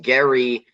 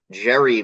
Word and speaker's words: Gerry: as well and yes it's Gary with a hard G sound like gorilla or garage not giraffe or Jerry mandering so yes Jerry mandering is actually anounced incorrectly it should be technically Gary mandering that's right and that